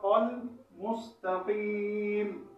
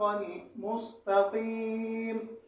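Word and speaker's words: المستقيم: مستقیم نہیں ہے۔ تو اس آیت کا صحیح تلفظ اهدنا الصراط المستقیم، اهدنا الصراط المستقیم۔ اسی طرح انشاءاللہ آپ روزانہ اس کو ہجا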